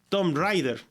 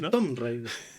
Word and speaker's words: Tomb Raider: por eso Por ejemplo yo vine a descubrir hace poco que que no era Tomb Raider el videojuego y yo le decía al Tomb Raider el Tomb Rider y es por eso pero alguien me corrigió aquí que era pero bueno nosotros no sabíamos el Tomb Rider no porque había una o ahí as así se pronunciaba el stre Fighter el